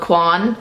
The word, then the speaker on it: Coin: And it's spelled coin, like a coin, like cents that you pay stuff with in the US, coin. or if you're French, it might be called Quan, so it depends where you're coming from, but